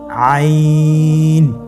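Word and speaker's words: عين: আইন হরফটি উচ্চারণের সময় অবশ্যই তিন আলিফ টেনে পড়তে হবে। এখন আইন হরফটি বারিক হরফ। পাতলা করে পড়তে হবে। আপনারা আমার সাথে বলুন আইন আবার বলুন আইন আইন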